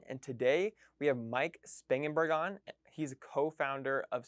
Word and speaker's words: Spangenberg: Spangenberg.